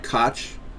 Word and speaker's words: Koch: Did I pronounce that right? Koch? Yeah. Those guys are... Coke.